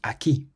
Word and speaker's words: aquí: The word for here has an accent on the I, so we say aquí. Aquí, rather than aquí.